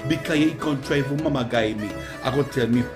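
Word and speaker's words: mamaguy: And today's word is mama guy. Yes, mama guy, and it is spelled M-A-M-A-G-U-Y, and it means to trick someone, a trickster.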